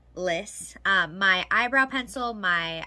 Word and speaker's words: LYS: on instagram about uh it's list not lys so list beauty um